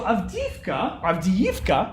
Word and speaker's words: Avdiivka: So Avdiivka, I should say, pronounce it correctly.